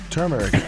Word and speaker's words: turmeric: L me how do you say it exactly turmeric turmeric chews valued at 25 uh it all